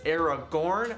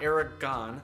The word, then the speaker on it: Aragorn: and here they go it's aragorn not eric gone it's serge tankian not